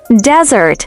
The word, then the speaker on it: desert: Desert, with a stress on the first syllable, means dry sandy land.